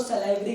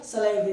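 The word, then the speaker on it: salivary: कुछ लोग इसको सैलिवरी ग्लैंड भी बोलते हैं, वो सबकी टंग पर डिपेंडेंट है जो प्रोनाउंसिएशन करना चाहे, सैलिवरी ग्लैंड या सलाइवरी ग्लैंड।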